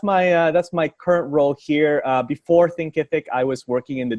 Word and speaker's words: Thinkific: a cool contact with Thinkific. So why don't you tell us what Thinkific is? And I used to always say it wrong. I used to say Thinkerific. But Thinkific, tell our audience what Thinkific is.